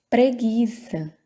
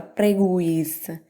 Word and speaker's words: preguiça: pronunciou viu tá tranquilo pronunciamos o preguiça preguiça preguiça não é pronunciada a gente não fala prego isa a gente vai lá preguiça ou não é pronunciada